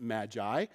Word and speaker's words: Magi: Magus or Maggie and Magus or Maggie we pronounce it Magi is a Persian word so what that means